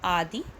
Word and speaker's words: आदि: उसके बाद नोएडा कै आदि और दूसरा वर्ड है आधी आधी आधी आधी में आपको छोटी कि मात्र लगे तो इसको आप उच्चारण जल्दी से करोगे आदि और उसके बाद